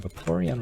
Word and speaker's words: Vaporeon: Vaporeon rhymes with Porygon, which you also pick up at the Game Center in Celadon.